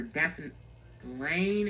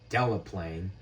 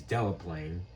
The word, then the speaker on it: Delaplane: and we're signed for Dauphin Lane and Paris. Yeah, that should be Winchester. Also, that is pronounced Delaplane. I'm surprised you got the second one right, but the first one is Delaplane.